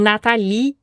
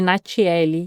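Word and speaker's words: Natale: E Natalie é um nome francês que a grafia N a t a l e. E aí meu pai quis que fosse exatamente como se escreve, só que ninguém sabe falar meu nome. Todo mundo me chama de Natiele, de Natalie, de Natalie, mas ninguém me chama de Natal.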